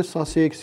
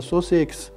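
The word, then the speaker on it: Sussex: اما بعضی از نژادهای سنگین در دنیا هستند، مثل نژاد اورپینگتون، نژاد رد آیلند و نژاد ساسکس یا سوسکس که به دو نوع تلفظ میشه.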